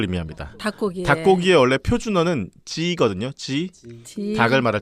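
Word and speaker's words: 鸡: 근데 산동 지역 사람들은 지 발음을 못 해. 사투리니까 지 발음 못하고 전부 지 발음을 끼라고 하는 거야.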